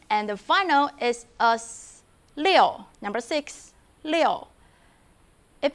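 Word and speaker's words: 六: to zero number six leo leo please take a look at pinging the vowel iu doesn't pronounce like you actually it pronounced like yo together yo yo with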